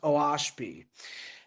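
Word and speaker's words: Oahspe: pronounced Oashpi.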